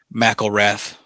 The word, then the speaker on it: McElrath: McElrath. Golly. Been murdering it all night. You don't let me go the whole show and just not say a word. I've been called worse by better. McElrath.